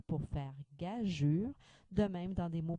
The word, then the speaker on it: gageure: Doit-on prononcer gageur ou plutôt gageure? Doit-on prononcer arguer comme dans naviguer ou arguer? Doit-on séparer ici les digrammes qu'on rencontre habituellement dans d'autres mots français? La réponse est on doit prononcer gageure et arguer.